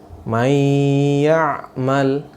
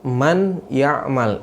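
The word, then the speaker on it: من يعمل: Di sini bacanya mayya'mal ya, mayya'mal ya. Bukan dibaca man ya'mal.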